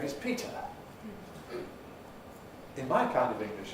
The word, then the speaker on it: Peter: I know someone whose name is Peter. In my kind of English, at any rate, his name is not Peter. It's Peter. Peter, because of this Pre-Fortis clipping effect.